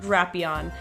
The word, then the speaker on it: Drapion: just to make sure it is in fact drapion so hopefully I'll remember that but it's another